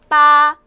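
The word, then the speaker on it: 八: 해서 재물을 가져다 준다고 해서 숫자 8을 좋아요 발음이 빠 하시면 되겠죠 자 그래서 중국의 길거리에 자동차 번호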